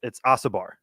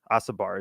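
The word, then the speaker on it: Osobor: They started running even, it's Asabar. Asabar is his name.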